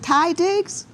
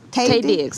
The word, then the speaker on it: Taye Diggs: Sanaa Lathan, and is it Ty Diggs? Taye Diggs.